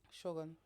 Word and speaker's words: Shogun: M swords for How do you say that word? Shogun. Shogun cuz it's got the it's got the accent, the flat accent over the O.